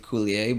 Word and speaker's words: Coulier: this guy's name Dave Coulier but it's spelled like cooler clear it's French I think it's not